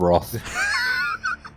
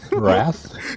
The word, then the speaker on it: wrath: rothmate let's get roth rock wrath it's wrath no rock what are you saying i'm saying that word i'm just saying it correctly does that mean that i don't know is that no what do you mean i just talk properly it's wrath it's wrath you know i just googled